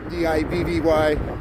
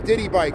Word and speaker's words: Divvy: D-I-V-V-Y. I know it says like some people think I'm saying Diddy bike, like P. Diddy, like a Diddy bike. No, it's Divvy, D-I-V-V-Y.